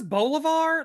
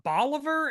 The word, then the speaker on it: Bolivar: His name is Bolivar, not Bolivar, and that is driving me crazy.